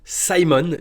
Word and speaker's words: Symone: de Simon alors déjà 10/ 10 pour pour la prononciation dans la vidéo ça se prononce Simon donc assez assez incroyable